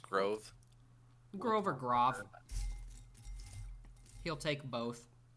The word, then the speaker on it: Grov: write that down it is g-r-o-v it is pronounced grove grover groth he'll take both has set up